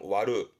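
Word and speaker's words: 割る: 발음은 와르.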